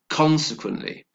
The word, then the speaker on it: consequently: we have this word consequently how many syllables is that consequently like four syllables the stress is on the first syllable and so therefore again